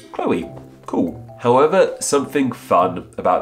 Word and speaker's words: Chloe: Chloe do it goes Chloe it makes that o e sound but how are we